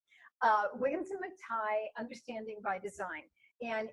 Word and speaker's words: McTighe: I didn't realize how to pronounce it until I met someone with the same last name. Wiggins and McTighe, Understanding by Design.